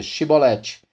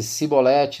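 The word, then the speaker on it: shibboleth: Se respondesse que não, diziam: então diga Shibolete. Se ele dissesse Sibolete sem conseguir pronunciar corretamente a palavra, prendiam-no, matavam-no no lugar de passagem do Jordão.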